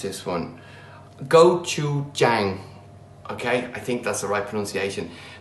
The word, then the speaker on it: gochujang: I've got some, okay, I need to be careful how I pronounce this one. Gochujang.